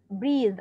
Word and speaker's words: breathe: spring expensive inexpensive cheap breathe breathe أطلع لساني save advise advise ده الفيرب الفيرب يعني إيه؟